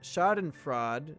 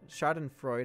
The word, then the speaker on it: schadenfreude: I hope the chat got some kind of schadenfraude schadenfreude had he pronounced that shard and Freud started fun start